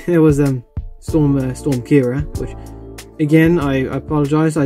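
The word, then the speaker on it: Ciara: then of course there was a storm storm kira which again i apologize i didn't know it was called kira i thought it was probably sierra okay can you blame me if they didn't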